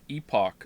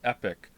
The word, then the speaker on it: epoch: about the pronunciation of epoch since you played Chrono Trigger many people pronounce it epic what it's Epoch or